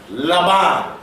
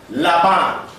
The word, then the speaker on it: Laban: Laban in the Hebrew. That's a lamed, that's a bait. If you have the dogesh in the middle, it kind of alters that pronunciation. But at the end, you have a final nun. Laban.